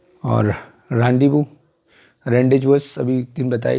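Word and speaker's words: rendezvous: This is a French word, pronunciation is रैंडीवू, रैंडीवू, नॉट रेंडेजवस, रैंडीवू, ठीक है।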